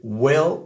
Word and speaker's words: will: mais vous allez voir c'est une sonorité qui s'approche du e accent aigu et le et français